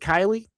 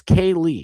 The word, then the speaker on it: Kaylee: Is it Kylie? No, it's Kaylee. Yeah, Kaylee Bush. I said it right the first time.